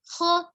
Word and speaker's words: خ: Kho-nya dari tenggorokan bagian atas, kho. Hati-hati pengucapan kho, tidak dengan monyong kho, tapi dia apa? Angkat pangkal lidahnya. Pangkal lidahnya naik ya.